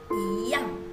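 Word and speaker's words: 一样: Berarti cara bacanya menjadi iyang gitu ya. Iyang bukan iyang putwe, beda ya, putwe tidak benar ya, melainkan iyang gitu ya.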